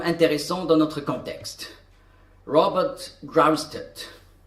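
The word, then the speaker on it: Grosseteste: Et voilà, au milieu du Moyen-Âge, nous avons un homme intéressant dans notre contexte, Robert Grust. Oui, on prononce ce mot Growed en anglais.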